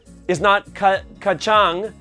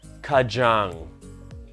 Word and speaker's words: Kajang: It's not kacang. It is kajang.